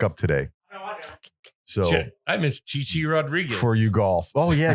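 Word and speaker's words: Chi Chi Rodriguez: it starts back up today so I miss Chichi Rodriguez For You golf oh yeah Chichi Rodriguez or something like that right right Chichi Rodriguez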